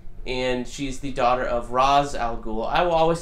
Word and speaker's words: Ra's al Ghul: However, if you listen to Denny O'Neil or anybody that truly speaks Arabic, it's Raish Al Ghul or some sort of variation on that. Maybe the pronunciation is off, but we're going to call him Ra's because that's what I grew up listening to, so sorry.